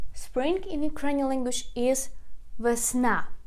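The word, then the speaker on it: весна: in ukrainian language is versna versna again we put a stress on the last syllable please repeat after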